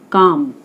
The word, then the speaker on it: calm: The lake was calm. L silent है इसमें, तो C के और M का स्ट्रोक बनेगा और आ का वॉवल, आ का साउंड आ रहा है इसमें, काम।